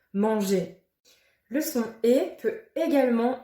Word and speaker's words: manger: On ne prononce pas le R, mais l'association du E et du R font le son et. Dernier, premier, manger.